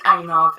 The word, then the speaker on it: Einav: It's Einav, E-I-N-A-V.